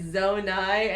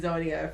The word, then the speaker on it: Zonai: So where they actively said Zonai and you were still saying Zonia for a long time.